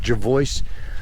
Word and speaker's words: Jervoice: Look, there's a few ways of pronouncing it if you really wanted to, but that's how I pronounce it, Jervoice.